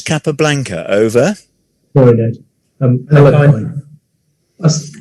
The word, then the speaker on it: Alekhine: Alekhine. It was, okay. Yes. I've credited that point to Paul because I think I heard you say that. So okay, that's right. Yes. So technically pronounced Alyukin, but I'm being generous